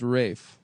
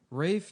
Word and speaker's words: Ralph: Uh, but it is pronounced Rafe.